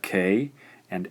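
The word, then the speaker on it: か: So for example, here we have K and A. This gives us ka.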